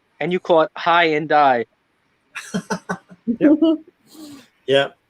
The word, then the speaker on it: Hyundai: same ones the ones that i call it hyundai and you caught high and die yeah how do you guys say how do